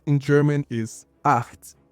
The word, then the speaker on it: acht: The number 8 in German is acht. Think of it like a heavier H, almost a K, kind of like the Scottish pronunciation of the Loch in the Loch Ness Monster.